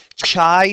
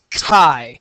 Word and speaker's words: chi: it's not ch squ it's not chai squared it's not Shai squared it's Kai it sounds like a k so Kai squar the